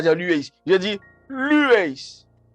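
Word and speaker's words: λύεις: Ce sur quoi j'appuie, c'est le lu, parce que vous voyez, c'est là qu'il y a un accent aigu, un accent tonique. Ça veut dire que c'est cette syllabe, c'est sur cette syllabe que je dois insister.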